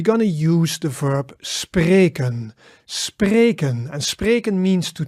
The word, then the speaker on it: spreken: But the important there is that it's two syllables. Spre, e sound, ken, spreken.